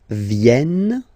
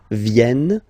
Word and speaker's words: viennent: Ils viennent. So remember this classic ending ENT for the third person of the plural is here, but phonetically it doesn't exist, so you don't pronounce it.